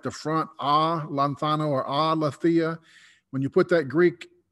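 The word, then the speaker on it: ἀλήθεια: I'll pronounce it wrong probably, but it's aletheia.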